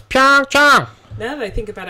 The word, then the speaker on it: Pyeongchang: Here is how you pronounce the Korean pronunciation guide for the host city for the 2018 Olympics. Pyeongchang, Pyeongchang, Pyeongchang, Pyeongchang.